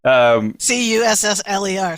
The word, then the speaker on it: Cussler: I never knew how to pronounce Clive Cussler, is it? Yes. Cussler. So Cussler.